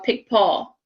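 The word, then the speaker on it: Picpoul: the grape as well pick paul and it's not the way you think it's spelled don't ask me to say it three times in a row pick paul pick paul pick paul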